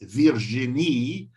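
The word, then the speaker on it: Virginie: Virginia or she's a French origin so they say it Virgina he is in P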